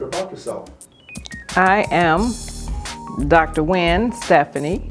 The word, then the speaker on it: Wynn: yourself I am Dr Wen Stephanie it's my first name it's spelled uniquely so I don't allow everyone to call me about my first name I'm called Dr Nguyen because I make winners so I am a